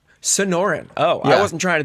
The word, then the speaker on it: Sonoran: It is Snorin? it's Sonoran. Sonoran.